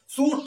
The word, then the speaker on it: chute: C plus H हो तब उसको सभी बोल सकते हो। यहां पर देखिए जैसे सीख, सीख मिस होता है ठाठ। सूट, सूट मिस होता है ढलान। सायले, सायले मिस होता है बंगला। सेफ, सेफ मिस होता है महाराज। और सैंडलियर, सैंडलियर मिस होता है झूमर। अब यहां पर सी एच का ध्वनि स है।